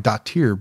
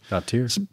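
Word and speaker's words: Brjánsdóttir: Dottir. I always thought it was like daughter, but no. I'm thinking it's more like Dottir, but Dottir.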